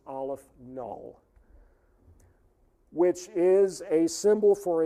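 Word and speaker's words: aleph-null: Olive the subscript is zero and that is pronounced Olive null which is a symbol for a certain level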